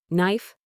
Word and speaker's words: knife: disappears in the pronunciation silent K when followed by N. Knee. You only hear knee. No, you only hear now. Knife. You only hear knife. Knock. You only hear knock.